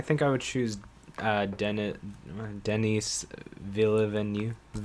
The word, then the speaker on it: Villeneuve: I think for director, I would I honestly I think I would choose Denis Villeneuve. How do you pronounce his name?